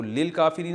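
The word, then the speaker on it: للكافرين: तो लिल काफिरीन असल में था ली अल काफिरीना। तो अलिफ साइलेंट हो गया।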